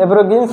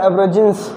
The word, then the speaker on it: aborigines: एब्रिगिन्स मतलब एब्रिगिन्स कहो या एब्रिजिन्स मीन्स आदिवासी जातियाँ।